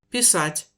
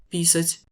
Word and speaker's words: писать: Плачу, Je pleure, плачу, je paye, узнаю, je reconnais, узнаю, je reconnaîtrai, et un où il faut pas se planter, писать, écrire, писать.